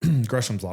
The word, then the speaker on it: Gresham's law: want to say gersam raw gam Gram's law gresham's law which is this concept that bad money pushes